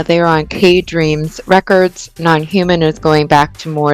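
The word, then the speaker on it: NNHMN: I was writing somebody and they're like, "It's just nonhuman without the vowels."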